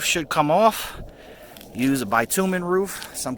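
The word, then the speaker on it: bitumen: of the roof should come off use a bitumin roof some call it a bitamin but it's pronounced bitumin B tuu me n we also have PVC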